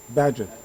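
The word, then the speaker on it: Bagehot: He cites a quote of, how do you pronounce his name, Bajot? The one who wrote about crisis? Badgett.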